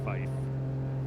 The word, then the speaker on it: fife: or air traffic controller, say tree, Fowler, or Fife. Even though by the book that is the correct radio pronunciation of 3, 4, and 5.